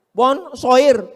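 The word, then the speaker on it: bonsoir: Emangnya bahasa Prancis mudah tulisannya bonur bacanya bonjou. Bon soir, bonso jangan pelajari bahasa-bahasa orang kafir ini.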